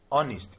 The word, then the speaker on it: honest: honest. It does not have H in the pronunciation.